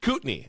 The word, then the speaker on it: Kootenai: I came across this ad from, and you may have to help me with the pronunciation here, Kootenai County? Kootenai.